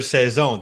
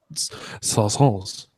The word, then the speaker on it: saison: That's as for saison, that means season. I fucking love saisons. Did I say it right? Saison. No. Saison. Son. More of a Z.